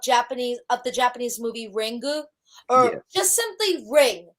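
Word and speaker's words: Ringu: of the Japanese movie rengu or just simply ring you can't say the you because the U is silent that's how the Japanese do it okay but I just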